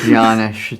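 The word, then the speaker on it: Janosz: Peter McNichol as Janish Poha. I was talking about the Janish part. It's Janish. The J is silent.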